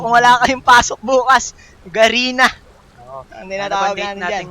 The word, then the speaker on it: Garena: Also guys, the pronunciation pala is is Garina not Garena. Garina.